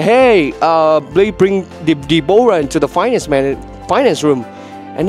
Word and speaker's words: Deborah: But in English, you pronounce Deborah. But the first time I see the word Deborah, I pronounce it Deborah because that's an O, but I didn't know that that's a silent O. So it's not Deborah.